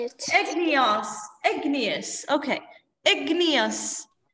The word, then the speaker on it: igneous: Igneous. Like genius.